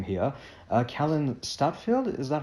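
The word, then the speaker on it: Kallen Stadtfeld: I apologize for mispronounced the name here uh Callan stadfield is that how it's pronounced yeah all right fantastic in the Code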